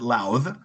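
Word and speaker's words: Lowth: The first is from Robert Louth, whose name I just learned to pronounce. According to Wikipedia, the TH is voiced, so it rhymes with mouth, the verb, not with mouth, the noun.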